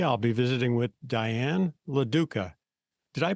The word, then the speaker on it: LaDuca: the world today I'll be visiting with Diane laduca did I pronounce that correctly you did oh okay good